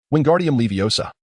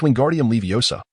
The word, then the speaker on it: Wingardium Leviosa: Wardium Leviosa, he shouted, flailing his long arms like a windmill. You got it wrong, Hermione retorted sharply. It's Wingardium Leviosa. The guard needs to be pronounced long and clear.